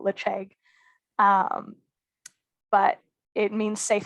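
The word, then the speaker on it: Ledaig: accent we go for kind of an in-between we call it lich egg um but it means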